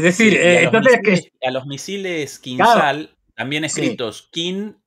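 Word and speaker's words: Kinzhal: h a l y ellos no lo llaman kinal como lo llamaríamos nosotros, sino que lo llaman quinsal a la zh como una sh o como un una cosa así.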